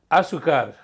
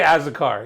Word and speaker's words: azúcar: azúcar. And But I used to say Azucar, yeah. Azúcar.